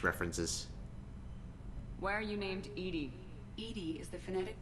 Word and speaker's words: EDI: and nineties ish references why are you named ed ed is the phonetic pronunciation of Ed I that is an acronym